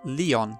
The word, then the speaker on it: Lion: It's written as blup, but pronounced Leon.